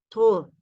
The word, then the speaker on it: trop: Trop, trop, nasal, nasal, nasal, trop, o. La P no suena porque no decimos trop, trop, trop.